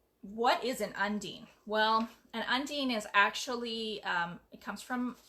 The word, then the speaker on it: Undine: people don't actually know how to say Undine and that is how you say it Undine or Undine is not undying it's like marine okay so it's Undine